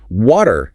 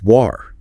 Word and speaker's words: water: Water in some British accents isn't water or wolder, it's war.